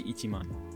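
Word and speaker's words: 一万: In other words, you should never say ichiju, ipyaku, or isen. They are 10, 100, and 1000, but you do say ichiman.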